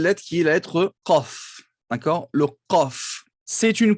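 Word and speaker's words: قاف: Le Qaf, c'est pas le K, vous savez le prononcer, il se prononce donc légèrement, le Qaf, légèrement en arrière par rapport au K. K, Qa, K, Qa, K, il n'est pas dans la gorge, hein. Il est au fond de la bouche, presque à l'entrée de la gorge.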